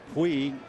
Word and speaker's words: Puig: And that name, Puig, is the way they pronounce it in Cuba.